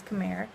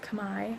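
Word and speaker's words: Khmer: language here is combined it's spelled khm er which you would think is come here it's pronounced come I and that's what you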